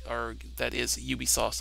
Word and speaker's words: Ubisoft: Tom Clancy Ubisoft and that is pronounce Ubisoft not Ubisoft its Ubisoft cuz I work with